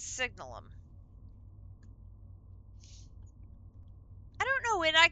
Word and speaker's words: Signalum: So, this one I need the signalum which for years I've pronounced that word signalium. There is not an I in that word. It's signalum.